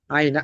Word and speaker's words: ein: আই একটি থাকলে এই আই না এটা আই না এটা হচ্ছে আইন আপনাদের প্রথম ক্লাসে যখন আলফাবেটের ক্লাস নেয় তখন বলা হচ্ছিল যে ই আই থাকলে আই এর মতন উচ্চারণ হবে ই আই থাকলে আই